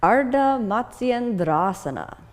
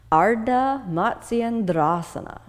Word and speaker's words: Ardha Matsyendrasana: Ardha Matsyendrasana. One more time. Ardha Matsyendrasana.